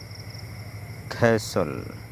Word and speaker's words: castle: কোনো শব্দের শেষে এস-টি-এল-ই থাকলে সেখানে টি অনুচ্চারিত থাকে এবং উচ্চারণটি সল এর মতো হয়। এক্সাম্পল: ক্যাসল দুর্গ, হুইসেল বাঁশি বা